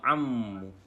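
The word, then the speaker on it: عمّ: Ini bacanya Itu dibaca ammu. Ammu itu artinya paman.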